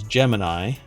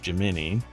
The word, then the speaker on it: Gemini: spacecraft now some people say that this is Gemini but what I've been told is it's pronounced jimini so I'll stick to that and tell somebody